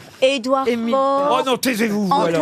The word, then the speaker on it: Faure: Édouard Faure.